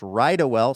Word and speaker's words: Rydawell: That's pronounced Rydawell.